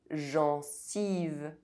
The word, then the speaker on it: gencive: Otherwise, EN is pronounced en. Argent. Sentir. Gencive. Enfant.